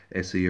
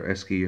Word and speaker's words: Esci: the this particular kit by Esci or Esci or Esci. I've heard so many different pronunciations of it, but it was pronounced to me as Esci the first time I ever came across these many years ago, and that's what I call it.